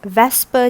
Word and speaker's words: VSEPR: pair repulsion Vsepr theory or another word that I can pronounce it as Vesper Theory what is Vesper Theory